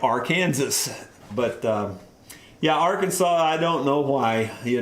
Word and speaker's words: Arkansas: find another question here why is it pronounced arkansas with an s on the end well some people in missouri pronounce it our kansas uh because it's basically spelled like our kansas but uh yeah arkansas i don't know why you know we could